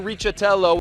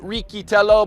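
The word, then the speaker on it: Riccitello: other writers American Young American Matthew richello well he pronounces it ritell but we'll let him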